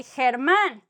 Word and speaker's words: Germán: Otherwise, it would be like H, like, that guy, Germán. Or gimnasio, the gymnasium, gimnasio, like a he, y, he.